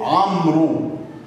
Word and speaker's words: عمرو: عمرو. عمرو، ما قالش رواء، ما نطقش الواو، لكن كتبت.